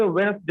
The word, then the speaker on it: Wednesday: उसके बाद वेडनेसडे नहीं होता है बल्कि वेडनेसडे होता है। Wednesday.